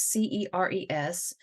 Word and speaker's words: Ceres: So I have heard her name pronounced so many different ways, and right now I heard the correct pronunciation and I can't even get it off my tongue. What is Ceres, which is Ceres.